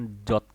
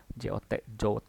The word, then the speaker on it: JWT: Di pronounce-nya disebutnya JOT. JOT.